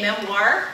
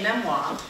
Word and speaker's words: memoir: Some say memoir, and some say memoir.